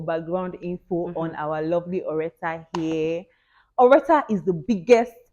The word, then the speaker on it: Oretha: today on the channel we have Oretha, not Oreptal or Exactly. Loretta or Exactly. whatever you want to Just call. Oretha.